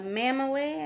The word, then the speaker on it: Mamaway: anyways today i am going to review the mama way i believe that's how it's pronounced m-a-m-a-w-a-y it's a belly band nano bamboo